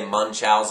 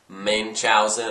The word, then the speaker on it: Munchausen: the adventures of Baron Moon chowen um I hope I'm pronouncing that right uh some people say munchow or main chowen or munchin on things but I say The Adventures of Baron Moon chalon uh 1988 it's PG